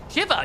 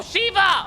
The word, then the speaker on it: Shiva: Shiver. Yeah, Shiver. I mean, I guess they were really cold. Haha. Oh, Shiva. Of course. Sorry. Shiva. I forget that's pronunciation is Shiva.